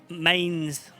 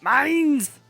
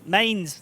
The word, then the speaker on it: Mines: Bane okay almost almost thank you everyone in chat for right now saying mines very nice I know I pronounce it funny but it's never going to change so yeah mines there you go um who has